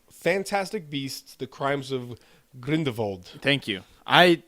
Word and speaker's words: Grindelwald: beasts the crimes of green devold thank you I his name should be pronounced with a V that just sounds evil er right well more